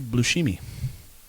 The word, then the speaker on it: Buscemi: and I love Steve Buscemi, so I would love to check that out. Steve Then Buscemi is the man. it's actually pronounced Steve Buscemi.